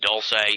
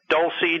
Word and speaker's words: Dulce: from the from the Dulce it's Dulce right that's how you pronounce it yeah douy Dulce whatever you want to say all right from the D From The dulsey Underground base conference I